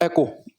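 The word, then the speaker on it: echo: अब इसे बोलते हैं एको, सही प्रोनाउंसिएशन है इसकी एको, कई बार हम इको भी कहते हैं, कोई बात नहीं उससे।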